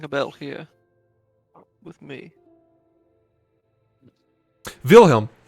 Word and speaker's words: Wilhelm: __ ] um because that's how you pronounce the W in the German language it's Wilhelm Damien Rosenwald I feel